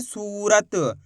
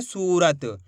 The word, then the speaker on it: सूरत: के पढ़ा जाता है इसी तरीके से पढ़ेंगे सूरत सूरत नहीं पढ़ना सूरत पढ़ दोगे तो छोटू की मात्रा का उच्चारण हो जाएगा कैसे पढ़ेंगे सूरत खीच के पढ़ेंगे स बा में बड़